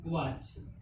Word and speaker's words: watch: English, तो फिर से इसे हम क्या पढ़ेंगे? वाटच। ठीक, यानी वाटच। लेकिन अगर हमें पता है तो इसे क्या पढ़ेंगे? वॉच।